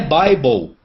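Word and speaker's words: Bible: só que não é Bíblia a pronúncia a pronúncia é byeble meu quando é que um brasileiro vai vai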